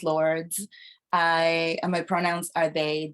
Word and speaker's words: Lwrds: Uh, my name is Lords. Pronounce Lords.